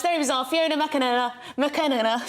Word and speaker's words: McAnena: Fiona McAnena. Sorry, I butchered your name. You're right the first time.